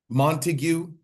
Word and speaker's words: Montague: Montague three syllables, however many letters.